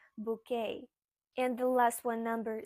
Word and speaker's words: bouquet: You might think that this sounds like bouquet, but no, this is a French word, so it sounds like bouquet.